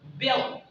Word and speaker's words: built: But if the T is at the last, so you gotta not pronounce that. So it'll be like built into built. It's not, you're not pronouncing the word T in American English, so it'll be like built. You can say, I built a building. I built a building. That's how you pronounce like a native speaker.